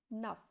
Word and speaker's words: neuf: So it will be pronounced completely. Avec. Avec. Second word is NEUF. Nuff means 9.